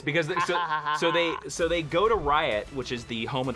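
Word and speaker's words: Ryut: Yes, because so they go to Riot, which is the home of the Red Lanterns, and that's what they fought the Black Is it pronounced Riot?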